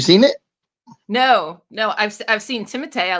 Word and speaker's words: Timothée: It's got Timothy M. Night Shyamalan in it, isn't it? It's Timothée. Oh. The correct pronunciation M.